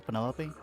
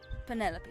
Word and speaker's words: Penelope: Is that short for Penelopey? Officially, yes, but I never can be bothered with all four syllables of it. Penelopey sounds a little ostentatious coming out of the mouth, don't you think?